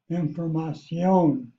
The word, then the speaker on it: información: And there also you have an accent mark because normally without the accent mark, the accent is next to the last syllable, and here it's on the last syllable, información. The C is pronounced like an S.